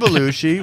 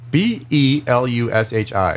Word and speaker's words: Belushi: So Jim Belushi was... I don't know if I know how to spell Belushi. Okay. That's so sad. Belusshi, kind of like... Belushi, like sushi, but Kind of like, Belushi. yeah, sushi.